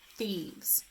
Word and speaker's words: thieves: So one thing that's important to remember is IE is going to represent the sound picture for E in thieves. And VE will represent the sound V. So again, it's E, V, S, thieves.